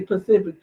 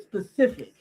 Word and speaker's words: specific: It's specific, and people say Pacific.